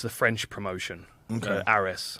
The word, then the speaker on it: Ares: Ares. I always say it wrong.